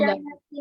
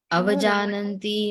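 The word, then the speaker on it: avajānanti: Avajanati Mamuda. Mamuda. Avajananti mama mudha. Avajanati Mama Muda. Muda. Okay, it is not avajanati, jananti, okay?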